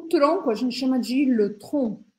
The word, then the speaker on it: le tronc: O tronco a gente chama de le tronc. A gente não pronuncia esse C no final.